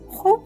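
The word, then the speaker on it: خوب: which means I'm fine hoop has one syllable ho and as has two syllables as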